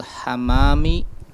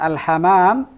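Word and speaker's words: الحمّام: Waman fil hammami. Fil hammami. Waman fil hammami. Nah, karena al-hammam dengan al-hamam nanti beda makna. Al-hamam tanpa mim yang ditasdid apa? Al-hamamah, merpati.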